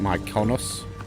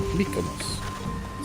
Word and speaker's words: Mykonos: Well, I googled a video on how to pronounce that because I kept calling it Mykonos. The video I watched said Mykonos, so it's okay.